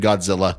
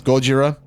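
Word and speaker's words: ゴジラ: to use the name Godzilla I know that in Japanese it's Gojira I'm American so I'm just going to say Godzilla nothing personal for the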